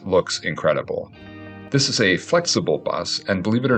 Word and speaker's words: Flxible: The Flxible company, pronounced Flxible, was an American manufacturer of motorcycle sidecars, funeral cars, ambulances, intercity coaches, and transit buses based in Ohio.